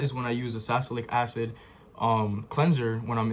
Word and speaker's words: salicylic: So, it's salicylic. My bad. I said it wrong. I said salicylic, but it's salicylic acid.